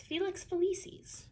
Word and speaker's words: Felix Felicis: Megan, I'm going to have you pronounce that one because I always get it wrong. Why. It's Felix Felicis.